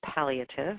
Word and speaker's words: palliative: next slide please so palliative and it is pronounced palliative we've heard that different ways palliative palliative you'll hear all kinds of noise about